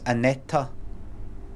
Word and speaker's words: Aneta: don't say it's no it's not pronounced Anette it's aneta like that stay away